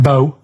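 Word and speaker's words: B.O.: It's not pronounced bow and it's not spout bow. Um, who calls it b? Everyone knows it's bo.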